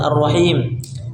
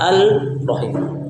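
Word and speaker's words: الرحيم: dimasukkan tidak kita baca al rahim tapi masuk idgamkan dimasukkan kepada berikutnya sehingga masuk secara sempurna tidak gak perlu tidak boleh kita membacanya dengan alrahim maksudnya sama makhraj dan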